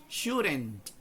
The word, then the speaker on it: shouldn't: Yo podría decir shouldn't, pero literalmente siempre se va a convertir en R la pronunciación de la D cuando le sigue un sonido que básicamente es vocálico en el sonido, en la articulación. Entonces shouldn't.